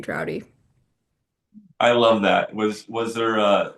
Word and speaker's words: Draude: But it's actually because my last name is pronounced Drowdy, and so a lot of times call signs are based on your name.